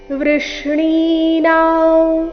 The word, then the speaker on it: ವೃಷ್ಣಿ: ವೃಷ್ಣಿನಾ ವಾಸುದೇವೋಸ್ಮಿ ಪಾಂಡವಾನಾಂ ಧನಂಜಯಹ ಮುನಿಮಪ್ಯಹೌಂ ವ್ಯಾಸಃ ಕವಿನಾಮುಷನಾ ಕವಿಹಿ ವೃಷ್ಣಿನಾ ಇಲ್ಲಿ ವೃ ಆದ ನಂತರ ಷಟ್ಕೋನ್ ಷ ಜೊತೆಗೆ ಣಿ ದೀರ್ಘ ವೃಷ್ಣಿ ಅನುಸ್ವಾರದ ಉಚ್ಚಾರಣೆ ಇಲ್ಲಿ ನಾಸಿಕಾಮ